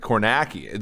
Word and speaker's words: Kornacki: his last name right kornacki the the end part is naki i i can't believe